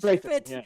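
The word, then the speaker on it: Strathairn: Strahan, right? Yeah. I can't pronounce his last name. He's Strathern, yeah, and they give him the dumbest like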